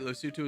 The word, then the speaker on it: Lesotho: Wait, Lesotho is correct pronunciation?